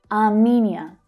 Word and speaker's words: Armenia: Armenia. Can you hear the stressed syllable there? Menia.